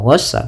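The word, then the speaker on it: غساق: hamiman wa, tidak langsung hamiman wa ghassaq, tapi tahan dulu. Kemudian lafal ghassaq ada mad tabi'i, fathah bertemu alif, qa yaitu mad iwad, ditandai dengan fathatain bertemu alif di akhir bacaan.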